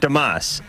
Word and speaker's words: Damus: Damus. No. Damus. No. Damus. Yes. Damus? Yes. All right, that'll be the last time I say it right. All right, I'm gonna put a little line over the A.